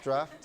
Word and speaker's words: DRAF: Yes, this is DRAF. That's how it's pronounced, draft.